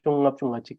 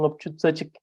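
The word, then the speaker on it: ལྔ་བཅུ་རྩ་གཅིག: They don't say Simjung Ngopchungachik, they say Simjung Ngopchutsachik, which is the 51 mental factors. So in that case, you will see the usage of the old translation, which is tsa instead of nga.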